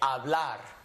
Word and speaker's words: hablar: It's silencio. So when I read words, it's as if it's not there, so we just kind of cover it up when we say hablar.